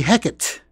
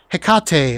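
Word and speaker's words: Hécate II: your way to victory with the Hecate not Hecate all right don't make the same mistake I made because a lot of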